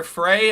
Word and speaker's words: Frey: 199 billion dollars of reparations to my bank account right now, They say his name is Mayor Fry. I thought it was Mayor Frey.